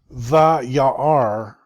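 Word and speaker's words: וַיַּרְא: And notice the quiescent aleph, you don't make any sound at all. Vayar. And then you don't actually say any letter.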